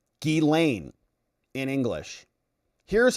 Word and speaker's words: Ghislaine: or J sound, and the S is often pronounced like a Z. So in French, it might be closer to Ghislaine or Ghislaine.